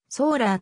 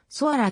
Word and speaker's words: ソアラ: ソアラに由来する本来ソアラはソーラーと発音するが正規の発音では読みづらいというトヨタ社内の意見から読みを若干変えソアラと読ませてることにした